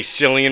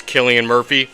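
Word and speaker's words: Cillian: I've heard people say selan Murphy which that to me just does not make any sense but what I'm pretty sure it's Killian Murphy I could be wrong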